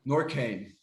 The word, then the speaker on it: NORQAIN: did have one question actually how do you pronounce the brand name yeah nor kane okay nor cain so um for for all of our american